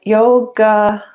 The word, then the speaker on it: yoga: stages of that and yoga yoga so actually in the in the sanskrit name that the a is silent so it's yog yog yoga yog it's